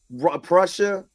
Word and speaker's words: Prussia: charged for meeting grees Prussia is pronounced like Russia is Prussia okay and D Sizzle you're